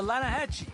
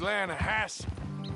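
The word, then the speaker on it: Lannahechee: no no the the lana hatchy it runs right near here yeah but it's pronounced land hass why is everything in english said differently than it's written make us feel stupid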